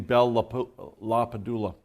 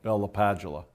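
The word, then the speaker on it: Bell–LaPadula: mandatory access control yes using Bella palapa doula or Bella padula depends on how you want to pronounce it what access control model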